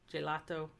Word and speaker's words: gelato: G before I or E is pronounced like J, gelato.